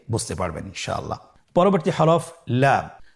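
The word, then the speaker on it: لام: পরবর্তী হরফ লাম। লাম হরফটি উচ্চারণের ক্ষেত্রে অবশ্যই বারিক হবে এবং তিন আলিফ টেনে পড়তে হবে। আপনারা আমার সাথে বলুন। লাম লাম হরফটির মাখরাজ হলো জিহ্বার আগার কিনারা।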